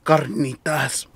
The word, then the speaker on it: carnitas: still try to say Carnitas and roll their r if you don't speak Spanish but you ever like want other rules of Spanish you don't roll your R unless it's a double r carnitas see the